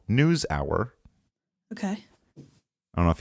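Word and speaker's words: NewsHour: but all of them, instead of pronouncing it News Hour, it's always News-a. Newsa. And it kind of ticks me off. You're listening to Yeah, news. that's two syllables that they're just mashing into one.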